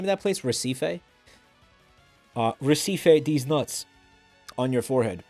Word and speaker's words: Recife: Recife, these nuts on your forehead.